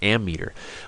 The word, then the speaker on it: ammeter: amps and that's why in my head I almost always say it wrong but it's it's an ammeter what does an ammeter